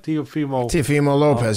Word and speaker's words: Teofimo Lopez: He beat Teofimo Lopez. Am I saying it right? Teofimo Lopez, yep.